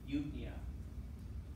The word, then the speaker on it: eupnea: You don't pronounce the P, it's silent. So noia, this would be well breathing, eupnea.